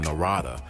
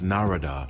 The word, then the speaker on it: Narada: time and I think I called him Narada he said no no no it's Narada like Florida oh okay well I